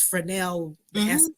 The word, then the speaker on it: Fresnel: And I was going earlier, and it's Fresnel. S is silent.